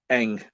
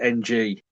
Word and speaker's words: Ng: That's Eng, or and Eng is spelt with just the two initials NG. Yeah, And people in interviews and stuff like that say NG.